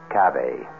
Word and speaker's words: cave: Latin word spelled the same way c-a-v-e but pronounced Cabe it means beware our cast included Marion Zelda's